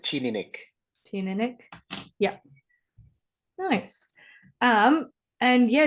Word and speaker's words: Teaninich: Do you pronounce it Teaninich, Yao? This is the one situation where I have to refer to. I pronounce it Teaninich.